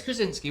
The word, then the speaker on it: Krasinski: So I cannot pronounce his name. Yes, John. But apparently, I believe it's Krasinski. Yeah. It's Krasinski, well done.